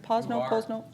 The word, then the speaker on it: Posno: Am I pronouncing it right? Posno? Okay.